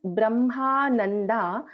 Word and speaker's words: ब्रह्मानन्दा: Just this Brahmananda, this na, okay, this is ta tha da dha na. So Brahmananda Balipriya, it sounded little bit like na. Please take care to pronounce it as na.